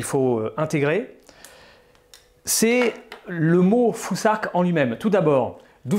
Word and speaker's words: futhark: Ensuite, la troisième rune du Fusark, que vous voyez ici, elle se prononce un peu comme l'anglais thing, on doit donc prononcer Fusark.